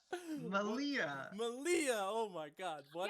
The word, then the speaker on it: Meleah: response you say my name Mitchell say it Malia I'm proud of you yeah I'm gonna like